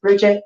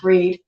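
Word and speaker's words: Brigid: refer to her as Bridget that it's pronounced breed it's for now it's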